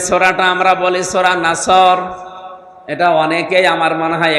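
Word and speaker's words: نصر: নুন সাদ র নাসর, নাসর মানে সাহায্য, এখানে সাদ মুখ দল করে উচ্চারণ করা লাগবে। সাদকে সিন দিয়ে বললে অর্থটা আকাশ পাতাল পাল্টিয়ে যাচ্ছে।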